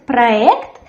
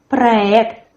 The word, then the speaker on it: проект: In the word проект, the stress as well falls on the last syllable. There's a firm R, проект. We write soft Y, but we say проект.